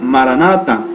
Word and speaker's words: maranatha: de jesús y que en arameo se pronuncia maranatha que es señor nuestro ven